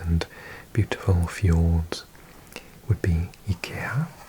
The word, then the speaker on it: IKEA: Some things that we associate with Scandinavia, apart from colourful houses and beautiful fjords, would be IKEA, as it's pronounced in Swedish, from Sweden.